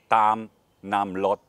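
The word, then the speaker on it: Tham Nam Lod: 50 kilometer north to the naam lot cave or tam nam lot how you say it in thai and then also on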